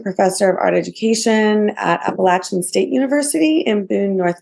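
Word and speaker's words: Appalachian: the lived experience wonderful I always see the word appalachin and I'm like in my head I say it five different ways I was like Yay I got to hear someone say it correctly appalachin see sometimes I say it like that and I'm like am I just is that I don't know sometimes I think that is not right okay excellent thank you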